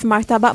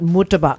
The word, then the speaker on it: martabak: martabak stalls, like food sort of stalls in food halls as well, and it's not murtabak. Yeah, it's not It's murtabak. martabak.